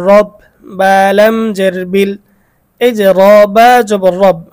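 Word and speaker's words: رَبّ: বালাম জের বিল এইযে রবা জবর রব র এর মধ্যে জবর রয়েছে এখন এই রটাকে আমরা চিকন পড়বো নাকি মোটা পড়ব এই রটাকে আমাদেরকে মোটা করে উচ্চারণ করতে হবে রব রব এই রকে যে মোটা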